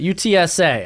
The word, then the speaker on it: UTSA: UTSA.